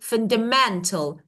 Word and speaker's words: fundamental: And I say fundamental men. So men is stress, right?